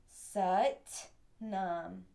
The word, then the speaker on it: Sat Nam: And what we're going to do is we're going to say out loud, Sat Nam, Sat Nam. Now naturally, you'll notice that when I say Sat, we really emphasize that syllable.